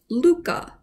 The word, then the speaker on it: Lykke: are going to denmark this is pronounced luca it means happiness it's by mike viking